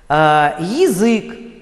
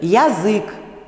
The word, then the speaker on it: язык: Произносят некоторые певцы, да, певицы, выходцы с юга России, выходцы с Украины, они произносят язык, да, янтарь, языковой. Вот слышите, да, язык, янтарь, языка, такой звук близкий к «а», а он ненормативный здесь.